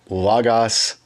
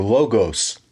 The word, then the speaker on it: Logos: a little bit about Lagos 10 or logos 10 depending on which pronunciation you prefer either is fine last fall at sbl